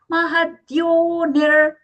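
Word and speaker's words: महद्योनिर्: Mahadyonir. Here the visarga is being pronounced as hafra. The reason is there is a visarga sandhi happening for our recitation purpose or the memorization purpose.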